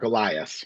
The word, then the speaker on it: Elias: something in co um the the lawyer firm that he that he tried to um Mark Ellis Marqueellis Mar Elias Marolias that's how you pronounce it Elias and Elias yeah Elias yeah something along Yes.